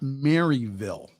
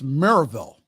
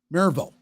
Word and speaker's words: Maryville: at now it's not Maryville okay that's not how the locals pronounce it it's maraville marille if you pronounce it